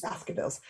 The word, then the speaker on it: Baskerville: Hound of the Baskervilles. Hi. How are you? How do you say your last name? It's just like the Hounds of the Baskervilles. Baskervilles.